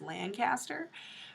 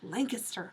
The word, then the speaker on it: Lancaster: that's spelled Lancaster, and I thought it was Lancaster, but I met someone from that town and they're like, no, it's Lancaster.